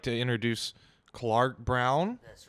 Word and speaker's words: Clarke Brown: refer to me as Clarke Brown. It's spelled with an E on the Clarke and an E on the Brown. But it is not pronounced Clarky Brownie.